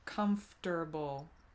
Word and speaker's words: comfortable: durable instead of comfortable comfortable some people i think might also soften that are quite a lot and then get comfortable i think when i say it i'm going for a comfortable three syllables straight yeah streamlining but